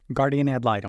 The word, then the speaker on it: guardian ad litem: Guardian ad litem.